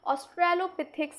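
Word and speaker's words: Australopithecus: Often consider direct ancestor of genus होमो, यानी genus होमो का हम डायरेक्ट एंसेस्टर कह सकते हैं ऑस्ट्रेलोपिथिक्स अफारेंसिस, सॉरी। क्लियर? इसका भी प्रोनाउंस कर दूं, कैसे किया जाएगा?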